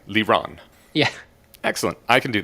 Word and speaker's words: Liron: It's a Hebrew name, so basically, I've decided that the ideal way to pronounce my name would be to take the Hebrew emphasis on the second syllable, but otherwise sound like you're talking English. Okay, Liron.